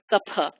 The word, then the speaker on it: kapha: Know that it's really, if you want to really be a purist, it's a p, kapha.